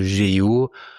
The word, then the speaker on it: GEO: Faudrait le dire à l'anglaise, à la française, on dit SEO en français, mais c'est prononcé à l'anglaise. Là, on dit GEO parce que G, c'est J.